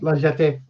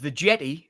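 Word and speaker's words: La Jetée: Yes, cuz finally somebody mentioned it and correctly pronounced Liet. So, so many years ago, well, I I I always called it the jetty being from up north and and and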